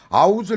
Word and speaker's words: out of: 우리 는 "out of" 를 'v' 발음 으로 말 하지 않습니다 . 그렇게 말 하는 게 아니에요 . 미국 이든 영국 이든 , 모두 " 아웃 - 어 " 라고 발음 합니다 .